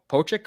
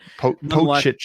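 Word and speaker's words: Pocic: I'm not sure about Pochik or whatever the fuck his name is, but Pochich, I believe it's pronounced.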